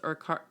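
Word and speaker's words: Urquhart: And did we did we decide how to pronounce Urkart? It's Kurt. Urk Urkurt. So it's Urkurt Castle is on on Loch Ness and it's basically the remains.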